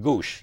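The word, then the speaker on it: goʻsht: is but it actually it's a meat market because it's pronounced goose but not what i'm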